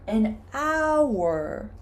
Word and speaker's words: hour: But Caroline, this is not a vowel because the H is silent. We say you have N, hour. We pronounce this part an hour.